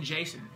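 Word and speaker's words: Jacen: J-A-C-E-N is his first name, Jason.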